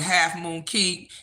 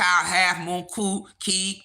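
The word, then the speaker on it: Half Moon Cay: the little bar to Half Moon ke my girl say I'm saying it wrong Half Moon C Half Moon c key Princess K because they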